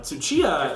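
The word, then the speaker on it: Tsuchiya: Mr shindo from Godzilla vers kadora and uh suchia finally pronouncing his name correctly I am aren't you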